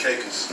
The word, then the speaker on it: Caicos: and Caicos Turks and Caicos like a a cause when we was there the locals pronounced it like Turks and Caicos Turks and cakes yeah cause when we're